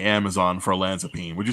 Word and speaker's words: olanzapine: next track um track number ten do you pronounce the olanzapine olanzapine yes yeah what is that um so olanzapine